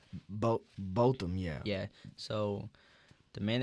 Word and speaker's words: Botham: Botham, yeah.